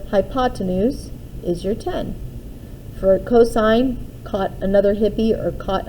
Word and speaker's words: cosine: sin or cosine or cos these this here is pronounced as sine theta c o s stands for the word cosine and t a n